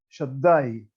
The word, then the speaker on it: Shaddai: la Perashá, Bekel Shaddai, con Dalet, con acento. La Dalet está acentuada, quiere decir que hay que pronunciar Shaddai. La Dalet es una Dalet fuerte.